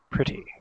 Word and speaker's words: pretty: have checked say that when the T is located between two vowels, it should be pronounced as a soft D, I think it sounds more like an R instead of D. Pretty.